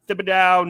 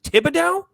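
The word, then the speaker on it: Thibodeaux: We got Thibodeau, Neal, Beavers, Davidson, McFadden, and McKeithen all signed.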